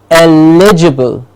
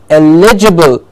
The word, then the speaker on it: eligible: how we say it that is incorrect we have to say it with the correct stress to say eligible eligible educators eligible okay